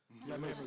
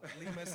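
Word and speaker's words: Lemose: Like a French moose. Lemus. Moose. Nice. I did it that way because people be saying my name wrong. Lemus.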